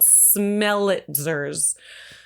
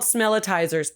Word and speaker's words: smellitzers: So they use these things called smellitzers. I do think they should be called smellitizers. Everywhere I looked, it said smellitzers. It's spelled SMELLITZERS. It should be smellitizer, right? Whatever.